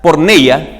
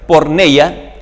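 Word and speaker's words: πορνεία: el significado de estas palabras la palabra griega por neya que ahí aparece por neya que se pronuncia por neya esa palabra rara está en griego se pronuncia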